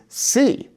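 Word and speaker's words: sí: So for example, in a word like see versus see. So see without an accent means if. See with an accent means yes. They are pronounced exactly the same, but in writing, we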